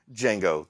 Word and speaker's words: Django: Yeah, not the same Django. The D is silent.